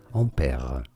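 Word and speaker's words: Ampère: you say it well in fringe his name is said as ompera omper in english this is generally said one of two different ways either in british english ampere ampere or in american english ampere and pia which one is the closest to the french certainly the british english pronunciation ampere is way closer to the french on pere or the original name and now you know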